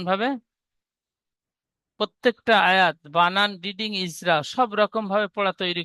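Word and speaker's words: إذا: তবে এখানে ইজা, ইজা, এই জালটি জিমের মতো উচ্চারণ হয়ে গিয়েছে, তারপরে যা, এই জাল আর জিম দুটি অক্ষর একই রকম উচ্চারণ হয়েছে জিমের মতো।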